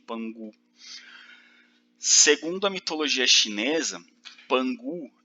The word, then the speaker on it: Pangu: Escreve assim com K, mas pronuncia como se fosse G. Pangu.